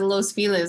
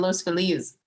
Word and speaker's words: Los Feliz: Everyone here says Los Feliz instead of Los Feliz. I would look at that and say Los Feliz, but isn't that?